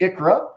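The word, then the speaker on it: ICHRA: So again, we pronounce it Icra.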